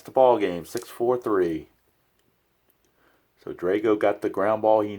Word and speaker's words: Drago: or if you're a rocky Fanny and calm Drago but his name is actually pronounced Drago and here's Sadr home 3/7 Sadr home 1